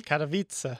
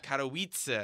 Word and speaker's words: Katowice: Katowice. Katowice. No, Katowice. Katowice. It's like Kata pizza, but Katowice.